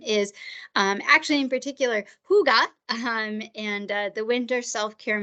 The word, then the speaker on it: hygge: so that's good so Huga you could see there it's spelled h y g g um it is pronounced Huga which is a little bit different but that's kind of